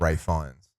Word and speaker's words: Fiennes: pronounce it as Guy Fawkes. Hmm. Just like Ray Fiennes.